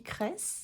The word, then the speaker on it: Kreis: Anne-Sophie Kress, ça s'écrit Kreis.